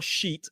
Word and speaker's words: sheet: So both of them have a long e vowel sound. We're going to focus more on that tomorrow. So these two words are sheet and beach.